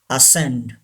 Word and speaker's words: ascend: ahead number one ascend say this would ascend C is silent ascend number two conscience conscience